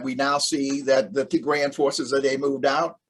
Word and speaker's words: Tigray: I just want to correct, the pronunciation is Tigray.